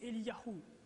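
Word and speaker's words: אליהו: du nom de Dieu et leur nom se prononce ainsi pour Ie c'est Eliahou pour Jérémie c'est yeremiahou et et donc le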